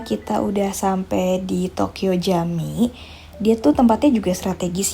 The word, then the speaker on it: Camii: Sebenarnya kalau tulisannya itu Tokyo kami ya, tapi dibacanya itu Jami.